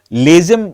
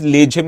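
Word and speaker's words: Lezim: told you this uh dance is called as laim in English but actually it is pronounced as leim in marati now this leim is often featured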